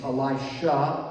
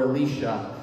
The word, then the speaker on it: Elisha: It's pronounced a few different names, Elisha or Elisha.